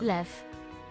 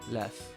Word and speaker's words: lew: And I guess when it's at the end, it's an F sound. Lew. Lew.